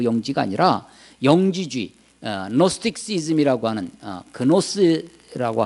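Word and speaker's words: gnosis: 영지버섯 그 영지가 아니라 영지주의, 노스틱시즘이라고 하는 그노스라고 하기도 하는데 쥐가 묵음되기도 합니다. 이 노스틱주의, 영지주의는 영적인 우리말은 영적인 지혜가 있다. 이 그노시스가 지혜라는 건데 그 지혜가 있어야 된다는 거예요.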